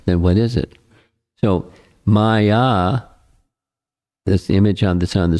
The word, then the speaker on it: Maya: It's based upon this diagram, or artist rendering, is a painting of Maya. Maya is a Sanskrit word with two syllables, ma and ya.